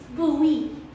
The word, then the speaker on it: Bowie: place called maryland um my sister said it's bowie but it's spelled like boney like david bowie but it's pronounced bowie but before i lose i